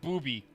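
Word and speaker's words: Bubi: no yay we killed booby yeah his name's booby it's like bu u b y but it's pronounced booby and uh she becomes the V the main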